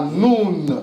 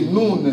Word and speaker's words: Nun: Il fallait penser à noun. C'est noun. C'est juste la prononciation qui vous a fait séparer.